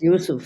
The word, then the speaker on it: Yusuf: It's also why I call the book Loving Yusuf and not Joseph, because Yusuf is the way my Arab friends pronounce it.